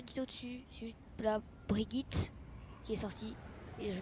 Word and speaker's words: Brigitte: Elle est suédoise, donc ça se prononce Brigitte.